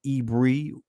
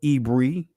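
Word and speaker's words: עברי: land of Canaan right the ancient Hebrew pronunciation of this ibar yah uh and the Israeli many would say ibri or Ivory right but ibri right so did Abraham become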